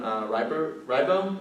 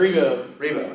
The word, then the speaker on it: Rebo: Today, on October 9th, 2022, I'm here with Ribo? Is that pronounced? Rebo.